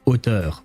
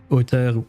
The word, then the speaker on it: auteur: with the English accent, because this is actually a French word. This is auteur, this word, an author. That's the English word for it, but yeah, auteur. Yeah, I won't try to pronounce it with an English accent when I know it's a French word and I have to pronounce it French.